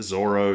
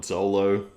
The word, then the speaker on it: Zoro: Thank you to everybody that has been commenting down a pronunciation guide for me. I now know it's Zoro, not Zolo.